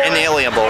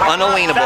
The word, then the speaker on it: unalienable: are all have unable and it's unable not inalienable unalienable okay a lot of people pronounce it inalienable but it's unable right to exist yes they